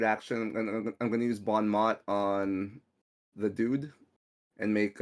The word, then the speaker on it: bon mot: in French you meant you have to say Bon Mo in French all right um so